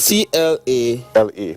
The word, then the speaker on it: Tlale: But T-L-A... L-E. But when you spell it, when you pronounce Tlale. it, you pronounce it with a C. Okay, it's Tlale.